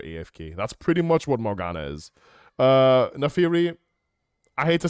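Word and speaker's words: Morgana: his buddy uh window morina morina morina morina I know it's pronounced Morana um binding and I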